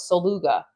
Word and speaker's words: Saluga: He's like, it's like beluga the whale, but Saluga.